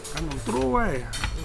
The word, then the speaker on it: ขนมกล้วย: We've even got ขนมอะไรนะ ขนมกล้วย ขนมกล้วย Okay. You have to pronounce be carefully ขนมกล้วย If you pronounce not right you gonna be another naughty word ขนมกล้วย Do you know what?